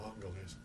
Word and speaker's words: Angeles: the foothills to the municipality of Angeles, Angels, or they pronounce it Angeles.